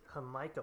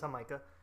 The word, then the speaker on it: Jamaica: It is not Jamaica. It's not Jamaica. It's Jamaica. And it's okay. It's spelled the same way as Jamaica.